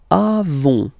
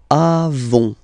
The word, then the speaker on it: avons: Then, nous avons, final s, not pronounced, avons, okay, and then we